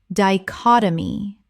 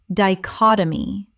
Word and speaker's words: dichotomy: concomitant concomitant Word 253 dichotomy Common mispronunciation dichotomy Correct pronunciation dichotomy Four syllables with the stress on the second.